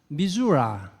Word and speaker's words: Missouri: senior advisers is from Missouri sometimes I used to have had some difficulty in understanding his English so now here I should pronounce mizura instead of Missouri I hope uh Governor